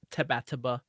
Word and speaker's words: Tabataba: The official abbreviation of the Brave and the Boys is pronounced Tabataba.